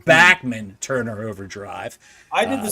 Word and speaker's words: Bachman: Turner over as the correct pronunciation we've been pronouncing it wrong all these years in our interview Randy backman said backman Turner overdrive I did the same thing Bachmann